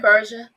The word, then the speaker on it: Persha: Did I say it right, Persha?